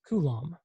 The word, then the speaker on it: Coulomb: And in English, it's pronounced Coulomb, right?